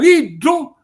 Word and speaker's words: iddu: Cioè noi scriviamo in siciliano iddu, e lo pronunziamo come vi ho spiegato, e scriviamo friddu che